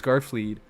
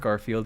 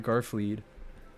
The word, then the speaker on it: Garfle: I pronounced your name wrong before. It's Garfle. You're not Garfield. You're Garfle.